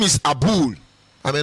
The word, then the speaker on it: Abul: His name is Abul. I may not be able to pronounce it well, don't mind me. And when I say Abul, the spelling is A-B-U-L.